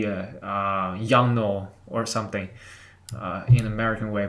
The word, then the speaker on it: Yongnuo: This actually is a Chinese name. You can spell it in Chinese. You can just understand. If you know Chinese, you know how to say it by looking at this. It's two words. It's Yong and Nuo. Literally, it means forever promise.